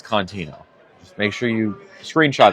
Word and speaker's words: Contino: It is the way I spell it in my bio. Lillycontino. It's Contino.